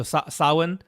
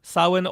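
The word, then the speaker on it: Samhain: one's really nice um so Sawan Sawan or as it's spelled phonetically like Sam Haines so sorry to that's how you'll actually find it but that's not how the words pronounced but it is like spelled Sam Hayne yeah uh that's enabled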